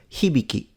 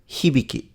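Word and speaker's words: 火引: his surname is pronounced hibiki hibiki but if you want to say all together the pitch shifts a little bit and it becomes hibiki down now means bullet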